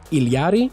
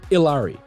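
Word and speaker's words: Illari: So for those unaware, there are 2 warring factions on how to pronounce her name. Iliari, the correct pronunciation in Spanish, and Ilari, the simpler and more phonetic pronunciation, and probably what most people assume when they see her name written.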